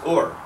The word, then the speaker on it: hour: And the thing is, from hour to hour is what we read in the modern text, which was pronounced or, but that's the same way you pronounced whore.